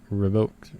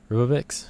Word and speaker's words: Ribovics: how you say it the esteban revoked rubix rubix there you go got it right um this is a